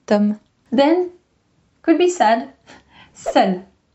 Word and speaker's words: seul: Then, could be sad, seul. Seul with a E if it is feminine, but same pronunciation.